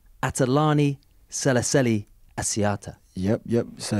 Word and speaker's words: Asiata: no it's not um is this can I pronounce it right atalani celicelli Asiata yep yep so it's John is in there